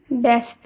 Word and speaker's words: ব্যস্ত: অ ধ্বনি তাই সূত্রানুসারে এখানে শব্দটির উচ্চারণ ব্যস্ত হয়েছে অর্থাৎ অ এর উচ্চারণ এখানে এ হিসেবে উচ্চারিত হয়েছে একইভাবে ব্যবসা শব্দের শুরুতে